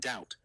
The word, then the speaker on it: doubt: The B in debt and doubt from Latin debitum and dubitary never pronounced in English ever added purely for prestige.